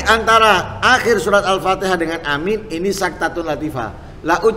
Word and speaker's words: amin: atau pengucapan amin hai pertama panjang hamzahnya tanpa tasjid minimnya amin Hai hamzahnya panjang tanpa ada tasdid pada meme Hai dan itu bahasa paling absah jadi bahasa paling tepat Amin paling tepat panjang